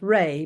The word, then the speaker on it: Rea: It's Irish, actually, so it's Ray.